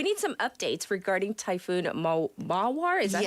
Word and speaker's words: Mawar: We need some updates regarding Typhoon Mawar. Is that how you say it? Yes, so Mawaru is how I've seen it in the Korean outlets, Mawar.